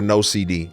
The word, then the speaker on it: NOCD: And that's why I'm grateful for NOCD. It's pronounced ND. No CD.